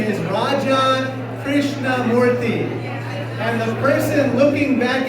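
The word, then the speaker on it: Raja Krishnamoorthi: in Illinois, I said, "Hi, my name is Raja Krishnamoothi." And the person looking back at me in Chicago said, "Roger Christian Murphy."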